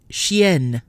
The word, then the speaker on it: chien: already mentioned so again when a vowel or vowels are followed by a double in or em in the same syllable the sound is no longer nasal so xie CH ie in is nasal but the feminine form with two ends CH ie in in E is not Chien masculine Xie nasal